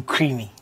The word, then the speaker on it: Krymi: Okay, with stage name Creamy. My Creamy is spelled Krymi.